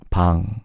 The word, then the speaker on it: Bang Chan: But instead of the ch, Korean doesn't have a ch sound. It's more cha. Can you guys hear the difference in the ch and cha?